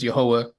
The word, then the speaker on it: Jehovah: Again, as we pronounce his name as Jehovah, and many people pronounce his name as Yahweh.